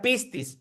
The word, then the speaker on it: pistis: Se pronuncia pistis.